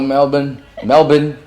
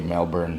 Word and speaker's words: Melbourne: Hello, Melbourne. I normally say Melbourne, right? But here it's Melbourne. Is that right? No R's, yes.